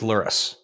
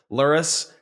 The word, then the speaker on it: Lurrus: Like Lurrus, like rhymes with like no, I keep on thinking of similar words. Lurrus rhymes with like hurt us. Nope. Taurus. Nope. What the hell does Lurrus rhyme with? Lurrus? Tourists. Tourist? I don't know.